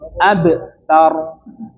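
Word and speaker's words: أبتر: Nah, kalau di sini abtar abtar abtar. Nggih. Monggo-mogong ee cobi dipraktikkan. Hual abtar. 1 2 3. Hual abtar. Nah, seperti itu nggih.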